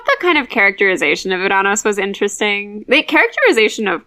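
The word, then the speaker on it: Ouranos: I say Uranos because as Percy correctly points out, there's no other way to say his name without it sounding silly.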